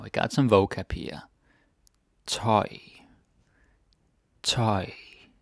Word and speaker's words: tøj: Toy. Toy. Tøj, clothes.